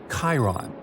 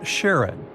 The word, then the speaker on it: Charon: the most mysterious one, Chiron, also pronounced Charon. So you can pronounce it however you like.